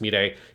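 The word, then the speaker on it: Milet: she is um that's it's pronounced me day but it's written m-i-l-e-t if people are confused it's meant to be pronounced midday um it's kind of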